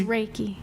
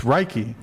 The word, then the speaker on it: Reiki: It's Reiki. It's Reiki.